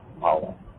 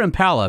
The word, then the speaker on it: Impala: Is it Impala or Impala? Because it's all different. People say it different ways. It's Impala. That's the most exciting thing about that version of that car is whether you pronounce the name one way or the other.